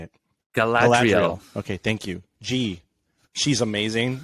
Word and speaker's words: Galadriel: I can't even pronounce these names. Galadriel. How do you say it? Galadriel.